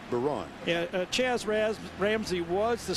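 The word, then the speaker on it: Byron: It's B-Y-R-O-N, pronounced Baron.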